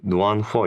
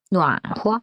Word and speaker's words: 暖和: 이건 좀 이상한 거일 수 있는데, 그 누안후어 있잖아요. 누안후어? 네, 그 후어가 저는 그때 저번에 배울 때 그어로 알고 있는데 발음이 아, 흐어? 그렇죠. 네, 접속사 그리고. 네, 왜 이렇게 발음이 이렇게 바뀌어서 나와가지고 이런 거 많아요.